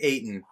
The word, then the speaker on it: Ayton: the sons and deandre ayton his last name sounds like satan so like there's a